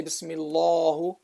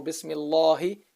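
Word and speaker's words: بسم الله: You don't say Bismi Allahu, or you don't say Bismillahu, no, or Bismillahi.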